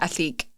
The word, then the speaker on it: Ethique: Atique. It looks How do you like spell it? Atique, like ETHIQUE.